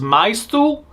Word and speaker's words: Myth: Although it's kind of weird because the way it's pronounced because of the katakana is maisu for myth, so people are thinking